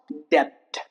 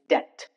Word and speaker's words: debt: It's not debt. It's debt.